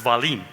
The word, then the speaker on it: Wahlin: They say it right, but it's Wahlin.